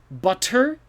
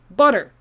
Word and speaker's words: butter: this word is it butter maybe if you're trying to be fancy but native english speakers will say butter it sounds like a d now this isn't true